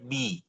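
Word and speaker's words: بِ: Huruf ba ini adalah kata tersendiri yang kita kenal sebagai preposisi ( huruf jar), jadi membacanya menjadi bi.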